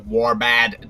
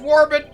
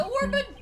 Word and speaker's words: Warbid: The murder weapon was likely the Warbad. dagger which was used in the rite. Excuse me, it's pronounced Warbid. It's the Warbid.